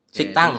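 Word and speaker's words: 식당: Siktang. Tulisannya sikdang, dibacanya adalah Siktang.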